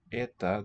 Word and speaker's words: это: Где это, this s sound does not Это. have that onset glide.